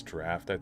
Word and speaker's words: draught: Draught is draft.